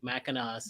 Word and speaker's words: Mackinac: you can't it doesn't it's not phonetic mackinas yeah it's like Mackinac mechanic yeah all right